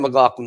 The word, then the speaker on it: McLaughlin: McLaughlin, yeah.